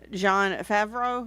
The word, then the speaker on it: Jon Favreau: And Jon Favreau." Is that how I say it? Yes, that's how you pronounce it.